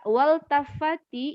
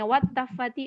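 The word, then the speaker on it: والتفت: Makanya nggak bisa hilang itu, nggak bisa kita bacanya wattafati, enggak, karena alif lamnya bukan alif lam tambahan tapi alif lam asli iltafata.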